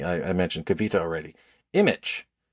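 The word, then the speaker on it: Immich: Image. Image. Uh, it sounds like the word image, but it's I M M I C H.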